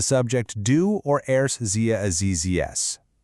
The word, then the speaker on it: siehst: And sometimes that E will stretch out into a long E sound, like in sehen, to see, which becomes siehst.